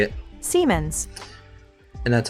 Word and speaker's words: Siemens: Siemens. And that's how you pronounce that name, because lately I did not